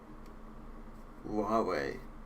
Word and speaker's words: Huawei: mining it's like maybe 10 200 seconds it's pronounced Huawei oh no I'm sorry I can't do that